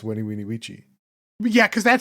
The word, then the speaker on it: Veni Vidi Vici: Is like, because I thought it was like Veni Vidi Vici. Is that not the same? I guess that is. So it is the same, but it's commonly mispronounced. It's Weni Weenie Weechi.